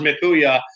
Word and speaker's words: Mchooyah: And that's a funny story because that's pronounced Mikuya.